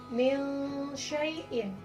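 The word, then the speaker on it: مِنْ شَيْءٍ: Contohnya di sini dalam kalimat mil syai'in, maka nunnya di sini disamarkan bacanya, tidak jelas.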